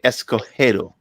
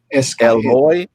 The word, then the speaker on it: Escagedo: okay so so why hold on escojero is that better escojero my question is why did you put escazido